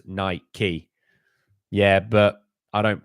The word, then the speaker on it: Nike: saving lives my guy Nike is from Greek it's literally pronounced niky yeah but I don't pronounce bike bik key see that's my issue it's just Nike it's not a big